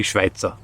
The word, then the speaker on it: Schweitzer: review oh schweitzer and it pains me to pronounce it like that it should be schweitzer schweitzer is different schweitzer isn't as much